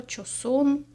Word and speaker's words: Joseon: називається Beauty of cyson як я зрозуміла тут саме так вимовляється ця назва часон пишеться Ось так джусуана